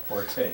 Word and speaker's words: forte: Forte. Forte is a musical term, which, you know, just play it strong, okay? But fort is your strength. The E is not pronounced.